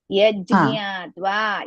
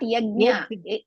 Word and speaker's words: यज्ञात्वा: Yajñatva. Yaj. First you should pronounce yaj. Then jnatva together.